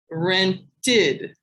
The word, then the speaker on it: rented: Rented has an id sound at the end.